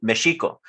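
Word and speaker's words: México: indigenous term i mean there's no way to to say mexico is a term that comes from spaniard other than pronouncing in spanish because the correct pronunciation would be mexico but to your point in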